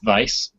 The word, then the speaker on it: Weis: Tracy Hickman yes and Margaret Weiss although I think it's pronounced Vice their series the deathgate